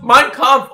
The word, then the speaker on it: Mein Kampf: The funniest thing about that was you just pronounced Mein Kampf like Minecraft.